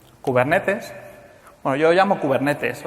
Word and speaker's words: Kubernetes: Bueno yo lo llamo kubernetes O sea si lo escucháis por ahí por YouTube la gente anglosajona dice kuber netis o cosas parecidas pero viene del griego Así que debe ser